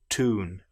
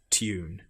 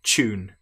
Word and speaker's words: tune: different in American English, for example, where they will say tune. But in British English we say tune. Some will even, if they're getting lazy, pronounce this as the ch sound, tune, but correct is tune.